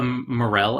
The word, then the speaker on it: morel: __ ] go ahead it is it's a morel actual rails how it's pronounced it's a mushroom okay yeah i knew